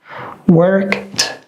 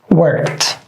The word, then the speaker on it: worked: All these 3 letters that we added, they all are pronounced like t. So we say stopped, stopped, worked, worked, walked.